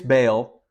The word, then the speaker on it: Baal: Called Baal or or I'll just pronounce it bail here for Simplicity but but all is probably a little bit more uh accurate term so this is